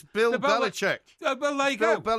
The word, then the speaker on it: Belichick: It's Bill Belichick.